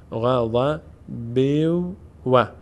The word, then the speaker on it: غضب: میشه با ساکن میشه غضب اما اگر ادامه داریم چون برس تنوین واو آمده ادغام صورت می‌گیره به جای نون دیگه واو باید تلفظ بشه میشه غضب بو غض بو و یک واو ساکن به